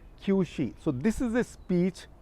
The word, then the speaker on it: Qiushi: So, once again pronunciation, Qiushi.